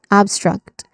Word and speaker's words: abstract: The pronunciation it starts with the stress syllable ab and then struck. Okay. Struct the short a vowel sound. Okay. Obstruct. All right.